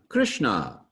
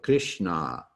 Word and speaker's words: Krishna: of your teeth you'll put the middle of your tongue up against the roof of your mouth and so it'll be a little farther back in your mouth mmm almost kind of